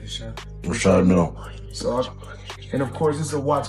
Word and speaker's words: Richard Mille: No, I like to call this the Well, they people pronounce them different ways. Richard Mille is what my jeweler told me. So, That's exactly how you say it, Richard Mille.